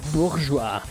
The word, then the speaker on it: Bourgeois: also run bourgeois and yes that's how i pronounce it bourgeois in proper concept but anyway enough talk let's